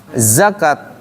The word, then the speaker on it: zakat: Zakat, yakat bacanya. Kalau yakat salah. Zakat. Kalau yakat berarti nanti merubah arti.